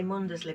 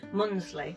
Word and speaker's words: Mundesley: say this wrong it's I want to say mundesley but I don't think it is it's not pronounced like Munley munsley that's it and did have a